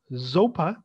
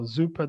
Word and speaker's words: Zopa: cube is another one zopa or zuper the way whichever way you want to pronounce it is where you'll find